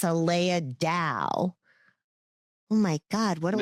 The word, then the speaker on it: Aleya Dao: energetic Empower Ranger report, Aleya Dao, which, no, I am like hyper pronouncing. It's Dao. It's Aleya Dao.